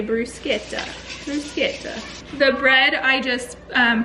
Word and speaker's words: bruschetta: us they were yeah we learned in Italy you gotta say Bruce Kita the bread I just